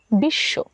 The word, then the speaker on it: বিশ্ব: উচ্চ থাকবে যেমন ধরুন বিশ্ব বিশ্ব শব্দটিতে শব্দের শেষে স এর সঙ্গে ব যুক্ত হয়েছে তাই আমরা সকে দুইবার উচ্চারণ করেছি বা স এর দৃত্ত